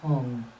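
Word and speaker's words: Hūṃ: of blue light is a blue Hong hu M or h u n g either is fine imagine now from the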